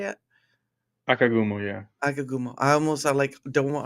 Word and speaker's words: Akagumo: Anyway, I get to have on the wonderful Akagumo. Is that how you say it? Akagumo, yeah.